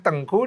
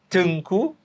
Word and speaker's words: Teungku: sebagainya Itu gelar bangsawan tapi kalau di Aceh Tengku dengan tulisan EU Tengku ah dibacanyaengkuengku itu nama